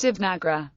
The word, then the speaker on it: Devanagari: The name of the script itself is pronounced Devanagari.